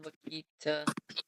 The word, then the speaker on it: Wakita: I think there's a little fire near the little tiny town of Renfro and Wakita.